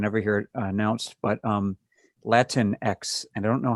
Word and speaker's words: Latinx: But Latinx, I don't know how I'm supposed to say that.